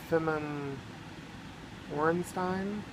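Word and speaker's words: Feman Orenstein: And it looks like it's by Gloria Femin Orenstein.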